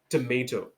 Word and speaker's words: tomato: सो टमेटो American English, टमाटो British English.